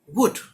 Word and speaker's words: would: इसमें एल आता है, एल साइलेंट होता है, WOULD, लेकिन बोलेंगे वुल्ड नहीं बोलेंगे, वुड।